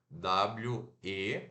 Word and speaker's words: we: nós we né tranquilo se pronunciar dessa maneira o som de w aqui aquele u de uva que é rapidinho o e né o ID igreja que a gente segura sorrir e faz um pouquinho mais longo né depois nós temos Day